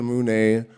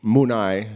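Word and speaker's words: munay: So I said that believe that the Mune, love and compassion, Munai, excuse me, Quechua pronunciation. I'm used to the Ecuadorian version.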